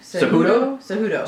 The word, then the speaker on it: Cejudo: who's he fighting Sergio Pettis is fighting who cudoo cejudo cejudo okay that's going to be a good fight pronounce things like such a white girl don't